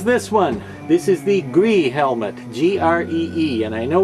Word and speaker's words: Gree: entire word no no i didn't forget to put the n on the end when i said it was gree so i'm not talking